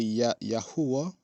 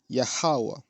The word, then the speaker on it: Yahweh: we say Yahweh, and I used to say Yahuwah. I understood that this is how his name is pronounced, Yahweh.